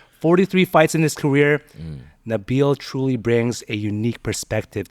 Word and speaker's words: Nabil: about that about so realistically my name is Nabil Nabil right pronounced that way uh when I started fighting